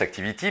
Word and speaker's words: ACTVT: Activity, ça se prononce Activity, mais ça s'écrit ACTVT, on n'aime pas beaucoup les voyelles, on en a gardé qu'une.